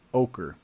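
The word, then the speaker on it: Oquirrh: but the the area the neighborhood is called ochre so again that's one of those funny words how do you pronounce that o q u i r h is ochre so out here in this area um you've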